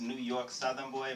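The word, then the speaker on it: NY Southern Boy: It's pronounced New York Southern Boy, but it's NY, like the letter N, the letter Y.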